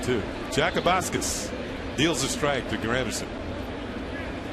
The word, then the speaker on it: Jakubauskas: Jakubauskas deals a strike to Granderson.